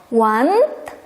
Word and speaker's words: want: Nah, ini kan wah, want berarti kayak Inggris gitu, want. Bukan ya, cara bacanya want, artinya karena.